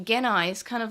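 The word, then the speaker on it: Gennai: And now we call Genai, which I know, yes, Genai is the proper way of saying it in the original.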